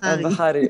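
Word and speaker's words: Albahari: I found it interesting you spell it. Al-Bahari, yes.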